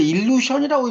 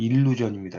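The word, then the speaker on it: illusion: 이걸 이제 일루션이라고 읽는 분도 있는데요. 일루션이 아니에요. 이건 이제 어떤 경우에 보면 뭐 마술 같은 일루션이라고 써놨더라고요. 영어로는 일루전입니다.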